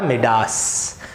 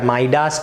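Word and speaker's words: Midas: उसका नाम था मिडास। सो मिडास टच या माइडास टच, अगर आप कोई अमेरिकन या ब्रिटिशर को प्रोनाउंस करते हुए देखोगे तो you would pronounce it एज माइडास, right.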